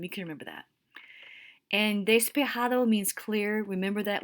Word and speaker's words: despejado: can remember that and despejado means clear remember that whenever you see a j it's always pronounced like an h so that's despejado like the clouds had